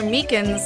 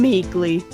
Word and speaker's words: Meekins: Actually, Officer Meekins at the detention center told us. Ah, that poor little doggy. Poor guy. I keep getting his name wrong and calling him Meekly.